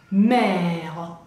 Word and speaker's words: mer: La mer, y madre, la mer, se pronuncia igual, porque acuérdense que la E final no la pronunciamos.